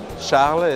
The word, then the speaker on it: Charles: Both of them, you don't pronounce the last letter. That's right. Can you say it correctly for us? So people... Charles is my first name.